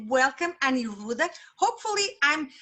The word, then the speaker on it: Aniruddhan: going to pass the word and say welcome aniruda hopefully i'm pronouncing it your name correctly i hope so